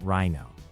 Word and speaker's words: RINO: Let's talk about rhino. Pronounced like the animal.